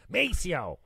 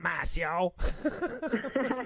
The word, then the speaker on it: Maceo: sure of maceo's name mispronounced it and van corrected me immediately with a little little bit of attitude meso not massio that's so funny so